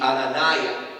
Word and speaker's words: Ananiah: Pero sería Azariah y Ananiah. Sería como se diría. Ahora, ellos, sus nombres terminaban en Y-A-H, en Aya. Que en hebreo sería más como Uya. En vez de Aya sería como Uya, es como se diría.